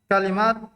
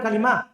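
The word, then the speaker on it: كلمة: hadhil kalimatu la asmaun minha annaha kalimat annaha kalimatul ikhlasi Kenapa begitu bacanya ya? Ada budak. Annaha kalimah. Kalimah, bukan kalimah. annaha kalimatul ikhlas Enggak. Masih salah. Itu berarti terbawa di lisan, kebiasaan. Bukan kalimat. Kalimah.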